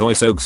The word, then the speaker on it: oiseaux: Birds is oiseaux in French. No letter is pronounced the way it should. And there are 7 of them. It's pronounced oiseau, and yes, I will die mad about it.